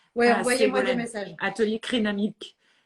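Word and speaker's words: Crénamik: Atelier Crénamique. Je prononce bien? Oui, Crénamique. C-R-E-N-A-M-I-K.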